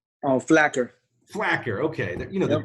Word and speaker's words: Flaquer: how to pronounce your last name correctly Diego pronounce your last name so I say it right black tar black here okay there you know them cues and they